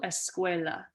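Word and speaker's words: escuela: school okay school um the word for school kind of sounds like school in Spanish the word is Esa okay so school esqua okay um spelled like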